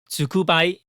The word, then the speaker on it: 蹲踞: Though here, the characters are pronounced "Tsukubai."